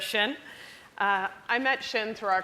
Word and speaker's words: Xin: you who don't know in China you always pronounce the first name last so I will be referring to her as shin I met shin through